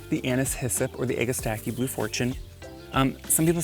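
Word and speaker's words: Agastache: So this is the anis hissip or the agistaki blue fortune. Um some people say egustache, some people say egastaki. You know what? Doesn't matter quite how you pronounce it as long as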